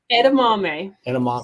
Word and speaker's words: edamame: Edamame.